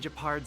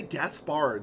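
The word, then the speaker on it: Gepard: Seeing as you're Captain Japard's sister, it should be fine. I feel like I keep wanting to say Gaspard the way his name is spelled, but I know it's Japard.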